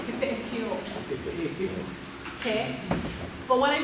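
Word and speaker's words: Pepeʻekeo: If you've lived here in Pepe'ekeo for a long time, you should know the right way to say it is Pepe'ekeo.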